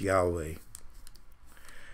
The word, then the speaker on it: Yahweh: so and of course the original is yhwh probably pronounced yahweh you shall love the